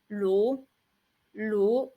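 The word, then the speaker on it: 炉: itself means stove and the pronunciation of it is Lu and a very super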